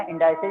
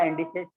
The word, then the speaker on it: indices: इंडाइसेस या इंडिसेस, जैसा भी प्रोनाउंसिएशन कर लो आप, ठीक है ना?